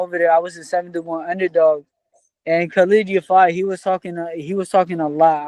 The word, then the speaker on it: Khalid Yafai: Obviously, you had a big win against, I'll probably say his name wrong, Khalid Yafai.